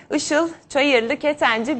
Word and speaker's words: Işıl Çayırlı Ketenci: kariyer bölüm pazarlama lideri Işıl Çayırlı Ketenci bizlerle birlikte Işıl Hanım'a Hoş geldiniz Umarım doğru telaffuz etmişimdir Çok doğru telaffuz etmeniz Hoş bulduk Hande Hanım çok teşekkür